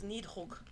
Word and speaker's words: Nidhogg: The dragon's name is Nidhogg. Sounds very German right there. I practiced. You need a hug? I need a hug in German, which Nidhogg.